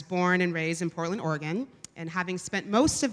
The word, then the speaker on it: Oregon: of Portland, Oregon, which, by the way, is pronounced Oregon, not Oregon.